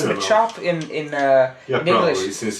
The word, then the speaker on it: Machop: maop I think it's Machop in in uh English going with a chopping sound you know yeah exactly